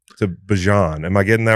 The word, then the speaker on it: Bijan: I used to like I tell people I've been saying it be bjon my whole life and my mom's like why do you say that? Like it's bjon and I'm like so but however you